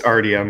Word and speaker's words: Artyom: Artyom I don't know it's Artyom because I knew someone in elementary school his name is Artyom that's how you pronounce it yeah hey by